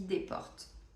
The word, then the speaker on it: Desportes: lumière de l'ISE Desportes ça s'écrit Desportes mais ça se dit Desportes il est tout mimi